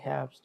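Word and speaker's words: Herbst: এটা হচ্ছে হেয়াবস্ট। হ্যাঁ, বলেন এটা ই আর আবার। কি উচ্চারণ হবে?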